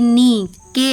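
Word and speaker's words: knock: एस बुजीनेसवेयर जब ये एन के पहले आता है तब साइलेंट होता है जैसे एग्जांपल के एन आई एफ E knife के एन डबल ई नी के एन ओ सी के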